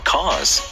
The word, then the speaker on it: cause: It's incredible how people come together for a cause. 여기까지입니다. 예! All right, good job, everyone. 네, good job, everyone. All right. 그 cause 할 때 C-A-U-S-E잖아요. 이거 Yes. 많은 분들이 cause라고 하는 발음을 잘못하는 경우가 많은데 하고 벌어집니다.